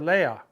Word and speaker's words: lea: So when you have Leia, the E is stressed, and that's how we pronounce the word, Leia.